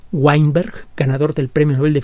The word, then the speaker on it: Weinberg: universo de stephen veinberg se escribe con w la primera letra de su apellido es una w weinberg ganador del premio nobel